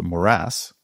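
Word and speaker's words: morass: not know what this word meant it's actually pronounced moras and it basically means a complicated mess they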